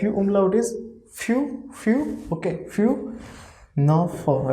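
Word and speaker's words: fünf: you but if you own out is few few okay few now for right so overall pronunciation is few few okay okay few for few then six see pronunciation of six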